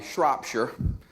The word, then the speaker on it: Shropshire: It's Shropshire.